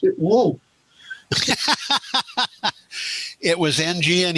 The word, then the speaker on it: Ng: He pronounced it woo. It was NG, and he pronounced it woo? Yes. There is an explanation in the various Chinese dialects. Okay. NG and woo use the same ideogram.